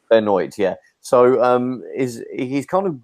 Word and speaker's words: Benoit: It's pronounced Chris Benoit. Benoit, yeah.